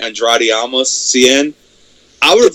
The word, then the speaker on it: Andrade: Versus Andre Cien Almas. Andrade. Oh, Andrade. Okay.